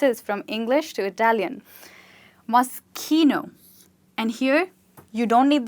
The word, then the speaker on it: Moschino: But I hope she's not calling it Moschino, which is actually wrong. Yes, it does say Moschino, but in Italian, CH is not pronounced as ch, but it's rather pronounced as k.